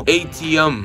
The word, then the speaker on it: ATEMM: para funcionar con el nuevo remolque eléctrico ATEMM, pronunciado ATM de Plazam.